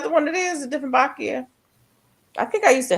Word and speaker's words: Dieffenbachia: Is that how you pronounce it? Oh, Dieffenbachia, yeah.